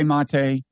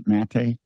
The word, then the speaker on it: Maté: Don't a lot of people say Maté, and it's really Maté?